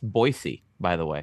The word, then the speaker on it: Boise: like a two bedroom no no why choose Boise it's also it's pronounced Boise by the way it's pronounced Boise it is